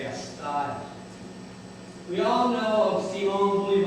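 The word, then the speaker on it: Castile: pronounce it Canton again you go to Spain it's casel in Spain but here in Wyoming County New York they pronounce it cast we all know of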